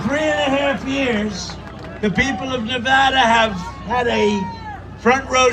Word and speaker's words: Nevada: and you always have to say it correctly Nevada including the fact that they've weaponized the Department